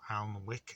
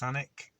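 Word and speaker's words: Alnwick: then there was the last drop was in anik or alma wick as it's spelt as it's yes belt pronounced anik famous for harry potter or the anik castle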